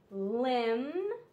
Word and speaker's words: limb: so here we have limb combed thumb crumbs climbs plumbing plumbing the B is silent the B is silent it only makes the um sound then we have the